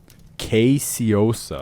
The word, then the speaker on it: caseosa: Caseosa.